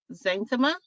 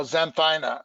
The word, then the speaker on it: xanthina: rose that had the red spines called Rosa Xanthema? Oh, xanthina.